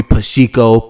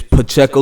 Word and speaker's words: Pacheco: know what i'm saying you got to pronounce it right you can't sit here and call me pashiko but you know i'm saying none of that uh my name is pacheco yeah um i'm